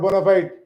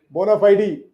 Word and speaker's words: bona fide: This is bona fide. Not bona fide. Bona fide.